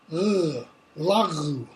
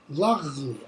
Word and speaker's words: lagu: And then the third one, this is a velar sound. It's a lagu, lagu, almost like you're clearing your throat.